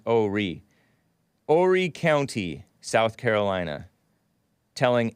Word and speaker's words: Horry: ashley babbitt check out hori oh ori i call it horey h-o-r-r-y pronounce oh re horry county south carolina